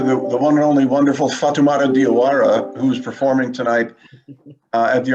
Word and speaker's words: Fatoumata Diawara: Fatoumata Diawara, that's the pronunciation, John. Fatoumata Diawara, got it.